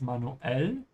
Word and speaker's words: manuell: Also, wir müssen es manuell. Wir müssen es manuell versuchen. We have to Yeah. try it manually. Remember to add a small pause. Manuell. Genau. The pause in between.